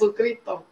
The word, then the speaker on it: Jesucristo: Jesucristo.